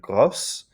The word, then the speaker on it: grosse: Second one is gros, becomes grosse in the feminine. And so you've got, it's pronounced a little differently. So you've got gros and grosse.